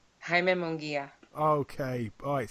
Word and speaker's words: Munguia: Munguia. Munguia, okay.